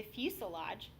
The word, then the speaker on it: fuselage: for the main course the fuselage rhymes with blue garage is the largest part